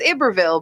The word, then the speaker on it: Iberville: those scenarios where it's it's the proper way to say is Iberville but nobody will ever say that I say it I I've never said Iberville in my life and when you do say it people will look at you and go you're saying it wrong even though you're saying it correctly people will correct you